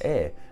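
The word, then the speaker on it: Aodh: But no, nevertheless, in the Irish language, that is how you pronounce Aer. And Aer was an Irish god of fire, hence why the name means fiery.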